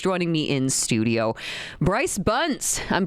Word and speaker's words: Buns: Bryce Buns. I'm pronouncing your last name correct as well, right?